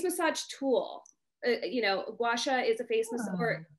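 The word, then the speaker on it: gua sha: about the okay you told me how to pronounce it guasha washa are you not familiar with washa i have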